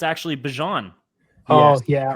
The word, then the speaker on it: Bijan: It's actually Bijan.